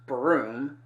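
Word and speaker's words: Bruttenholm: State sign Trevor uh Bruton home pronounced broom uh who's some kind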